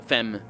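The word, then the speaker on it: femme: women and women uh fem can be can mean women as well as woman it's just it's pronounced the same the plural and the and the singular because that's how french works lovely language but that's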